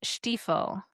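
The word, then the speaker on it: Stiefel: Ethan Steiffl.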